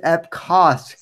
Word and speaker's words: Epcot: But anyway, yeah, I mean, yeah, it is Epcot, Gabe. That's the proper pronunciation.